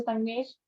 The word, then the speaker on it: संगमेश: कहाँ से हो संगमेश? वैसे मैं नाम सही प्रोनाउंस कर रही हूँ आपका? हाँ करेक्ट है मैम.